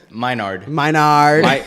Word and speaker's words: Menard: The way Minard. he told me how to say it is that I'm your nerd. So say my nerd.